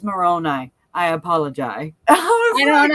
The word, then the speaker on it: Moroni: She goes, I'm sorry, I was mispronouncing Moroni. It's Moroni.